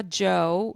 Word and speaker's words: Djo: Then I saw Joe, which is spelled DJO, and he was one of the reasons I was going.